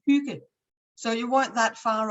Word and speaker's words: hygge: So yeah, that's just for my, and it's actually pronounced Hygge.